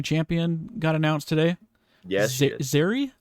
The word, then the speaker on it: Zeri: got announced today yes zeri ziri is how you pronounce it some kind of love